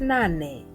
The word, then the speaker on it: nane: The next letter is pronounced as na, na, and the word is nane, nane, which means 8 in English.